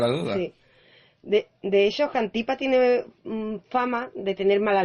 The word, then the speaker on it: Xantipa: Sí, bueno, la esposa de Sócrates, Xantipa, si no me equivoco en la pronunciación, corrígeme por favor, Raquel, que el griego no es lo mío. Xantipa.